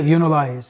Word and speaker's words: UniLias: Now your name is Unilias, right? Did I pronounce that right? Yeah. Unilize.